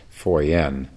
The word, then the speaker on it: Foyan: sun Dynasty Master Fen I think U it's spelled f y which I think is pronounced foren um we left off